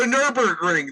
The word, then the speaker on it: Nürburgring: the Nürburgring. That's how you Yes.